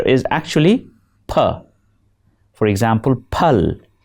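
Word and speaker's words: پل: For example, pal and pool are often heard as fal and fool.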